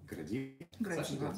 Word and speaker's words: Градива: И как правильно читается? Градива.